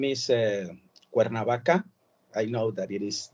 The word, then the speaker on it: Cuernavaca: The name is Cuernavaca. I know that it is difficult to pronounce, but it is Cuernavaca, and it is known as the place of the eternal spring.